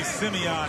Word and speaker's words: Simeon: basketball Factory Chicago Simeon now I got to say Simeon a because my barber shop in HDE Park would kill me if I didn't say it right cuz I I came in there one day I said Sim and they're like nope Simeon so Kanan Davis Simeon